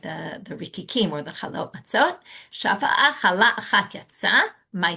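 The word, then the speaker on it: מצות: It says it, you read it as Matzat, which is singular, even though you read it meaning that's the way it reads. Even though you really read it, you pronounce it as matzot.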